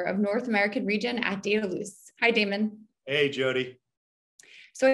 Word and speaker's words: Dedalus: all off who is dataloose and what makes you different yeah thanks jody so um daedalus data loose if you say it correctly um as i've been instructed by my european colleagues is one of the